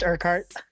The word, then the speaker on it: Urquhart: Um, Evan uh Urkuart. Am I pronouncing that correctly? It's just Urkheart. Urkart.